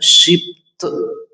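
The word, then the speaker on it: שבט: أرجع تاني وأقول هو من سبط، وكلمة سبط كلمة في اللغة العبرية بينطقوها شبط، شبط يعني فرع شجرة، فرع شجرة، حد من العيلة يعني.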